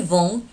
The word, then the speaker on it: vendent: Не пугайтесь, это как пишется. А теперь мы читаем как нужно. Je vends, tu vends, ils vendent, nous vendons, vous vendez, elles vendent.